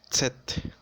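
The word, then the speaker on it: Zett: mismo significa y ahora la letra zeta se deletrea set esto por su sonido d que tiene el aceite en las palabras por ejemplo site que significa tiempo las últimas cuatro letras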